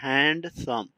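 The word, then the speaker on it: handsome: है ना खतरनाक हैंडसम कुछ लोग पढ़ते हैं हैंडसम डी यहां पर साइलेंट हो जाता है अब क्यों होता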